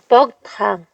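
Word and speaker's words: Богд хаан: 복특한 발음 어떻게 해요? 뻑탕.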